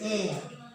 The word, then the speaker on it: heir: and you become an heir to the property of your father become an air not hey h is not pronounced it remains silent so here okay this is hair and this is air and this is air